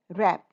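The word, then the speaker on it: wrap: ना, रैप मतलब लपेटना, रैप, इसमें W साइलेंट है, हम व रैप नहीं बोल रहे हैं।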